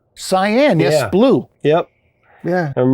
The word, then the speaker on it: Cyan: Cyan? Cyan, yes, Yeah.